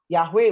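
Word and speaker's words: Yahweh: atau keselamatan Yahoo itu yhwh kita bacanya yahwe Boleh tapi kalau orang Yahudi enggak boleh bacanya adonai Ya jadi yahwe menyelamatkan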